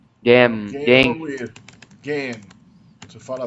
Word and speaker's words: gehen: Gehen. Gehen ou ir. Gehen. Você fala assim, gehen, né? Uhum. Gehen. Uhum. Ir. O H não é pronunciado, tá?